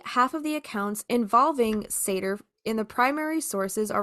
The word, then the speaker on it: Seiðr: find mentions of a type of magic called Seiðr, which is spelled Seidr. So Seiðr was in all likelihood a spun form of magic.